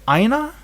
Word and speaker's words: Aina: Like when I look at Aina, is it pronounced Aina? Aina? Yes.